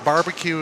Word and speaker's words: Bevilacqua: Barbecue is also an acceptable pronunciation. Barbecue. That's the first thing he told me. Is like, if you can't say it, just say barbecue.